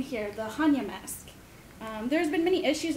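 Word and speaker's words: Hannya: that's because the word Hanya is actually the it was imported to Japan through Buddhist missionaries and it's a Buddhist word that actually means wisdom stands for it in origin it's actually pronounced panya and it refers to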